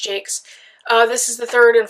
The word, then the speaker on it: Jacques: I know it's pronounced Jakes.